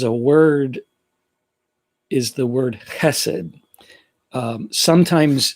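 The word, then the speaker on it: chesed: s e d but i'm pretty sure that the hebrew translation has that guttural to start it um that so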